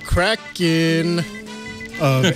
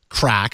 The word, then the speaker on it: KRACK: that's called well that's been dubbed crack spelled with a k KR ack Jerry you wrote up